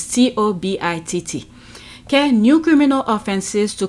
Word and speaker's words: Tobitt: Sorry if I pronounce her last name wrong. It's Tobitt.